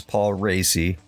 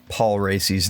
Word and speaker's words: Paul Raci: Yes, that is how you pronounce his name. It's Paul Raci.